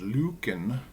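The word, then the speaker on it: Løken: leicester l-e-s-g-a norway so loken which is in norwegian is pronounced lucan is uh like a farming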